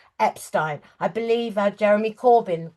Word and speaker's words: Epstein: pronunciation of his name, Epstein was how John Lennon said it and a lot of people in Liverpool but it was Epstein and when he started his various boarding schools he would make a point of telling people that that was the pronunciation and in fact when